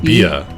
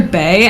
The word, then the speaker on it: Bea: It's short for Beatrice. So it's like Bia. B? But it's spelt like Bia. I always called her Bae, and the entire time I was playing, everyone's like, it's not Bae, and I was like, shut up!